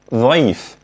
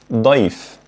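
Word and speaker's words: ضيف: turning it to vote like saying life instead of life life instead of life which means guest and by the way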